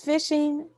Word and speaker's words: phishing: fishing what is fishing it is spelled p h i s h i n g so the p h is the f sign i i what is fishing phishing attacks remain one